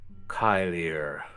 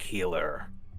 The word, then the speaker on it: Keilir: He pronounced it differently than you would from this spelling. It's spelled Keilir. Kyler. Mert said something like healer. Something like that.